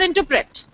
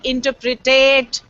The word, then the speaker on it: interpret: and this one interet the word is interpret interpret do you interpret and we end up saying interpretate interpret interpret I don't